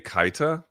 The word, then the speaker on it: Keita: They pronounce it on the broadcast as Losane Kaita. Kaita, okay, but he doesn't check the boxes we just talked about.